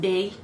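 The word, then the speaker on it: Baies: It's spelled B-A-I-E-S, which is French for berries, if you didn't know, but it's pronounced bay.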